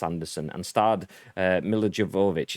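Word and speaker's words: Milla Jovovich: anderson and starred uh milo javovich is how you pronounce it djokovic yeah mj gross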